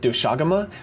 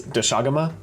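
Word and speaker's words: Doshaguma: is a pack of doaga which sounds a little weird to say because I've been saying doaga this whole time but she pronounces it as dagama and they're kind of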